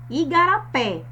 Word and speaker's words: igarapé: Igarapé. Percebam que o som mais forte vem da sílaba pé, sendo evidenciado pelo acento agudo que existe na vogal E.